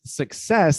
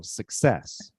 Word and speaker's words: success: 95 but remember remember success the stressed syllable is the second one not the first so success success enjoyed success on